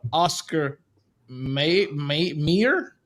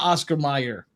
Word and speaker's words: Oscar Mayer: So apparently it's called Oscar Mayer and not Oscar Mayer. It's just pronounced Oscar Mayer.